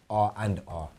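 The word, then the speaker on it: R v R: It's spelled RWR, but in law you pronounce R and R.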